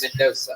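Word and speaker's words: Mendonça: It's Mendoza, but it's Mendoza. Yeah, it's spelled like shit.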